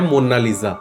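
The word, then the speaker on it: Monna Lisa: spelling है वो मोना लीज है और इसको प्रोनाउंस भी एक्चुअल में इसकी करेक्शन है मोना लीज जो मोस्ट ऑफ लोगों को पता ही नहीं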